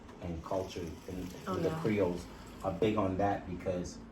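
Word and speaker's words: Krio: Creole. Listen to it. Creole, not Creole. Okay. Creole is spelled K-R-I-O, not Creole, C-R. okay.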